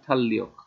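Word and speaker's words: 달력: Korean ভাষার নিয়ম অনুযায়ী রিয়লের পর রিয়ল আসলে দুইটা ল ল উচ্চারণ হবে, উচ্চারণ হবে থাল্যক, থাল্যক মানে হচ্ছে ক্যালেন্ডার।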